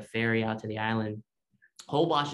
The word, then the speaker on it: Holbox: out to the island hobash is spelled h-o-l-b-o-x because it's mayan the name is mayan so another one super